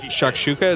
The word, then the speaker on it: shakshuka: of cumin and paprika and stuff like that shakshuka it's spelled sha ok wait now I have to